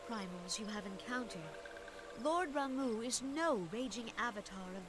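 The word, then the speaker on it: Ramuh: Ramu.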